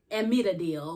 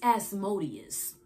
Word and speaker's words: Asmodeus: the rock two readers they said the name wrong it's not admit a deal or whatever or a motive it's asmodeus and it's the demon